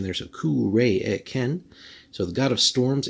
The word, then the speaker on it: Cuiraécen: cross sword so again a little bit of pronunciation there there's a k re Ken so the god of Storms and conflict but